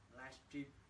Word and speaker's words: livestream: Rồi chị Huỳnh Thu Loan nói là hôm nay thầy cố ý phát âm đúng livestream. Cảm ơn chị Loan. Livestream ha, có chữ sờ ở giữa.